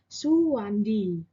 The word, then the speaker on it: Soewandi: ejaan Republik nah pada ejaan republik ini huruf Odan huruf e e berubah dibaca menjadi huruf atau kata suhu contohnya adalah Suwandi atau Soekarno dengan penulisan